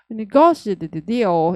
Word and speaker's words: negotiated: 그래서 negotiated deal은 되게 같이 많이 쓰니까 negotiated deal. 이거 발음을 예쁘게 하려면 무조건 고에 강세 주셔야 돼요. 고를 안 주면 당연히 입이 헷갈려가지고 negotiated deal.